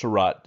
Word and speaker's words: Seurat: see a picture of george sarat is what americans say the french say josh so take that as you will since you're american you can just say george sarat and you can see